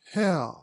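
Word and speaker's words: Haigha: happy his name is hair he pronounced it so as to rhyme with mayor I love my love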